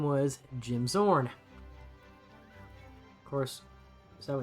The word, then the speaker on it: Zorn: the Seattle Seahawks quarterback, his name was Jim Zorn. course, so it's spelled Z-O-R-N, and these guys are spelled X-O-R-N, but whatever.